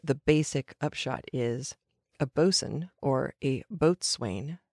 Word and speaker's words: boatswain: on but the the basic upshot is a bosun or a boatswain spelled Bo 80 waa I n but not usually pronounced that way is literally the boat servant